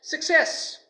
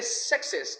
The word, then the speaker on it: success: the next one is Success don't say success all of my students say success but it is Success the second syllable is says so it should be stressed it is Success now